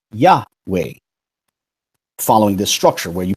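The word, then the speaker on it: Yahweh: that similar structure and knowing that the first syllables pronounce yah an easy assumption is that it's pronounced yeah way following this structure where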